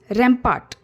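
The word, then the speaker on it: rapport: को कहना next is रपार्ट रंपाट are silent है रपार्ट सो रपार्ट बुल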